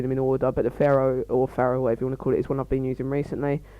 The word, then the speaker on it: Pharo: I'm going to call it the Pharo, by the way, guys, just because that's the thing, that's how it's pronounced.